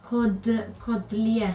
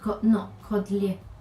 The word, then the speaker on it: Caudalie: I got something from Codlier, I think it's pronounced. Codlier, because it doesn't have an accent on the E.